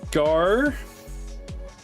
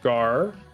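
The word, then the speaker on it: γάρ: I don't know pile this one is gar yep gar that's a gamma Alpha row so gar and gar means I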